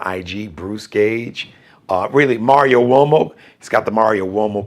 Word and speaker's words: Uomo: Now, Uomo is an Italian surname. So it's got the Uomo, like Wo, W-O, but it's Mario, M-A-R-I-O. Uomo is U-O-M-O. M-A-R-I-O-U-O-M-O, but it's pronounced Uomo, Mario Uomo.